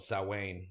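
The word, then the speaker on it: Samhain: this time of year it's called salwain it's spelled s-a-m-a in s-a-m-w-a-i-n and that's kind of like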